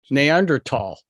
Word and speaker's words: Neanderthal: we're thinking here uh neander th TH or Neanderthal you you pronounce it for me boss I'm in Canada neander tall neander tall okay or fall right um I read a